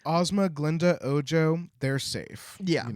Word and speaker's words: Glinda: I like that you're saying Galinda. Like Well, I that's part know. of the story. It's not. It's Glinda, but it sounds like Galinda is more like banana.